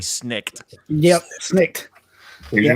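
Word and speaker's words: snikt: exactly how it's about exactly how it's spelled s-n-i-k-t snicked yep snake what's your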